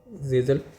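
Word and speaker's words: Kjeldahl: अब इसमें एक और इम्पोर्टेंट टर्म है गेजल नाइट्रोजन, ठीक है, के इसका प्रोनाउंसिएशन है जेजल नाइट्रोजन किसको कहते हैं, ठीक है, नाइट्रोजन अमोनिया, जेजल नाइट्रोजन अमोनिया।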